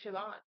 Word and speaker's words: Siobhan: was like more Siobhan I don't think you actually pronounce the b oh it's my bad well it they say it like sioban like Shan Shan okay